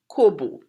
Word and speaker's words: corbeau: Trinidad we call vultures Kobo and we PR we don't pronounce it like the way that the French pronounce it we pronounce it kobu now what do you